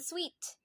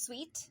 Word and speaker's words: suite: So the suite, S-U-I-T-E, that is pronounced sweet, much like S-W-E-E-T.